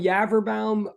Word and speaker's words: Yaverbaum: I mean, I'm Yaverbaum. Like that is not easy to get right. As I'll point out in a minute, if it helps, it sort of rhymes with cadaver town, sort of, if that helps.